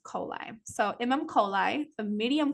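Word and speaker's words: Coeli: is the imam coli how you pronounce that is coli coli so you'll see that sometimes where it says imam i am um c-o-e-l-i you're like how do you pronounce it it's coli so imam coli the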